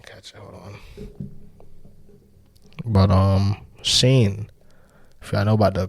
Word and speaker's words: Shein: But Sheen is spelled Shein. Sheen. I know your bitch probably done bought something out there.